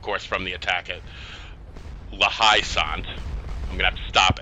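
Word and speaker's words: La Haye Sainte: We're just sitting here collecting points from La Haye-Sainte, and I always pronounce it wrong. I always call it La Haye-Sainte, and it's really La Haye-Sainte. I don't know why.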